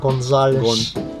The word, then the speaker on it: Gonzales: So pronounce it like that, Gonzales.